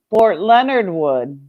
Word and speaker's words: Fort Leonard Wood: If anyone wants their channel up, Fort Leonard Wood. That's how we pronounce it.